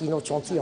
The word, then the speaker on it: Innocenti: Ça se prononce Innocenti en italien.